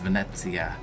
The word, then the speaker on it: Venezia: maybe vinci of 42 we were told it's pronounced venezia anyway there's a facebook group for us that